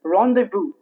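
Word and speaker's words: rendezvous: For example rendevu here jed is silent.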